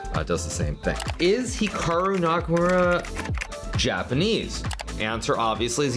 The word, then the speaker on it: Hikaru: pronounce Hikaru nak now even myself when I pronounce my name it's definitely more Americanized versus Japanese certainly I was pronouncing it correctly it would be more like Hikaru as opposed to Hikaru but I've spent so much of my life here in America that that that's just how I pronounce and everyone does the